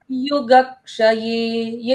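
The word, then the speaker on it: युगक्षय: Word युग श ये युगक्ष ये जो क्ष अक्षर है ये बना कैसे है? यह बना है आधा क प्लस ट्कोण का पूरा श इसीलिए आधे क का उच्चारण आता है युग क्षय क्ष अक्षर कहने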